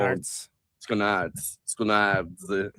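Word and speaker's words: Schoenaerts: I learned his name is pronounced like Skull, like it's like Skull. Like I thought it was shoot. Like my brain was like, oh, it's I guess it's pronounced Skull. Like that part's pronounced like Skull. Skonards.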